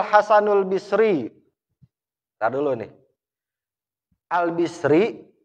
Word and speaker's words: al-Basri: Al-Bisri, Al-Basri, Al-Busri. Bisa dibaca 3. Yang cakep dibacanya Al-Bisri. Nyesuaiin sama harokat roknya. Orang Arab kagak mau ribet. Basri, Busri, keribetan bagi orang Arab. Makanya dia udah Al-Bisri gitu. Meskipun bisa dibaca Basri, bisa dibaca Busri.